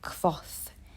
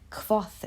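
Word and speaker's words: Kvothe: rothfuss it centers on the epic adventures of cough yeah it's spelled k-v-o-t-h-e and it took me forever to figure out how to say that i actually had to google it no no joke but yeah cloth is a ridiculously talented magician swordsmen musician you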